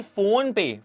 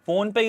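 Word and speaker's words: Fonepay: a deal with the phone pay phone pay is the largest uh you know payment Network in Nepal it's not a phone pay it's spelled differently but uh it's uh pronounced the same way so it's the largest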